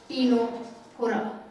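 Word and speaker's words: Ctenophora: Phylum टीनोफोरा, इसमें सी silent रहता है, टीनोफोरा।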